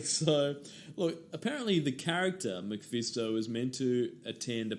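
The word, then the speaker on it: MacPhisto: so they were going to say bono you're mcfisto in batman forever so every time you say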